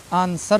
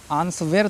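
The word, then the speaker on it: answer: तो लिखते हैं ना आंसर पढ़ते हैं आंसर आंस वेर तो नहीं पढ़ते हैं ना आंसर पढ़ते हैं क्यों क्योंकि डब्लू साइलेंट है एस के बाद आया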